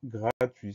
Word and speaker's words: gratuit: Première syllabe, gras, G-R-A, pas de problème. Deuxième syllabe, tui, T-U-I-T. Donc on a une lettre muette à la fin, qu'on va retrouver si on met le mot au féminin, on va dire gratuite.